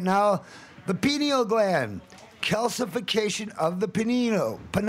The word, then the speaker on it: pineal: We're talking about P-I-N-E-A-L. Right. Well, and you don't break up the two vowels. They should work together to form a hard vowel sound. Not a second syllable.